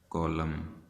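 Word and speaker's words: column: इसी तरीके से एम और एन का कॉम्बिनेशन एंड पे आपने देखना है, नज़र आएगा तो वो एन साइलेंट हो जाएगा। जैसा कि होता है कॉलम, जैसा कि होता है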